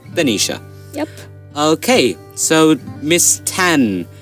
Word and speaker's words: Tanisha: Now I've been joined with Miss Tan, Tasmin Tayyiba Taneja. That's how I say her name, but her name is actually Tasmin Tayyiba Tanisha.